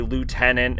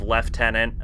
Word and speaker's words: lieutenant: stuff like that and we say Lieutenant instead of left tenant um even though the original was left tenant um um and a